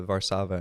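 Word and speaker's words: Warszawa: Krakow oh yeah uh which are pronounced uh varsava and krakov but um uh the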